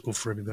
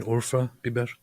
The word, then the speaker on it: Urfa biber: There's no such thing as Ufra Biber. You mean Urfa Biber?